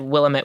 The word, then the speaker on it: Willamette: a weekly no it's Willamette Week but it was like Willamette Week versus Willamette Week it's like a very non-portland pronunciation and I'm like Robert